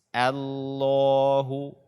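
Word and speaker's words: الله: ayat kedua kesalahan pertama membaca Hamzah washol dengan tebal pada kata Allah ini juga sangat banyak kaum muslimin yang membacanya dengan tebal allahussomad the Allah akan tetapi bacaanya dengan tipis Allaahu yang tebal adalah lem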